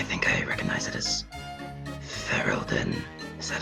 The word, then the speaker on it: Ferelden: I think I recognize it as Ferelden. Is that how you say it? Oh, is it really that obvious? Yeah, I'm from Ferelden.